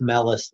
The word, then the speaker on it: Malus: you zero and this is called uh malus's law or something yeah it's melis law melis law yeah melis law that's yeah that's that